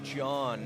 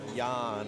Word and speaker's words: John: I just heard his coach say his name is John, not Yan or Jan.